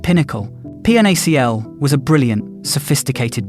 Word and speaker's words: PNaCl: To fix this, Google introduced portable native client or PNAC, pronounced pinnacle.